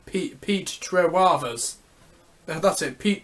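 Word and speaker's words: Trewavas: Pete Trewavers. That's it. Pete Trewavers.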